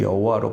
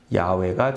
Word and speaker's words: 야훼: 161쪽 맨 위에 보면 오랜 기간 동안 하나님의 이름을 여호와로 발음해 왔지만 야훼가 정확하다는 것이 밝혀졌다 이렇게 말씀하죠. 학자들의 연구에 따르면 하나님의 본래 이름을 발음하는 방식이 여호와라기보다는 야훼에 더 가깝다.